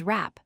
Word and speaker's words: wrap: The W is completely silent. You only pronounce the R sound and the letters that follow it.